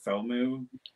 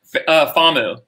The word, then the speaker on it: FAMU: So all the hands-on stuff seems like it came on from, how do you say it, FOMU? FAMU.